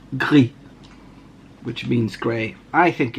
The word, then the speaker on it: Gris: So I don't think you should pronounce the S, as it's, if it ends on an S with no E behind it in French, the S is silent, so it's gris, which means grey.